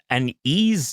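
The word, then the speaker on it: Yi: Like, E, it's spelled Y-I, but it's pronounced E.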